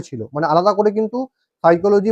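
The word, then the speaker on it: psyche: তো এবার দেখো কি বললাম না, এই যে সাইকোলজি যে শব্দটা, এই শব্দটা কিন্তু উৎপত্তি হয়েছে দুটো গ্রিক ওয়ার্ড থেকে এই সাইকোলজি শব্দটা কিন্তু উৎপত্তি হয়েছে। দুটো গ্রিক ওয়ার্ড কি কি? একটা দেখো সাইকি, ভালো করে উচ্চারণটা মনে রাখবে, সাইকি, সাইকি।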